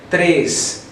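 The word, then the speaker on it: três: opened zero e meanwhile this one is pronounced more closed like tres tres the sound stays here in the nose okay and after that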